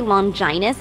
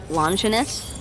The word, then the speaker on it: Longinus: Speaking of the minister, I gotta ask, why do you say Longinus instead of Longinus? Because it is the proper way to pronounce it, though some regions say it the other way. It's just Longinus sounds like a sexually transmitted disease, if you ask me.